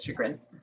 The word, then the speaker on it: chagrin: to her neighbors and i can't pronounce that word is it chagrin right am i correct there cool awesome it is chagrin awesome i've you know